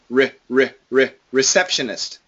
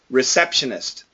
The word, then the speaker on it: receptionist: Re-receptionist. Receptionist. Not re. It's more of a schwa. Receptionist.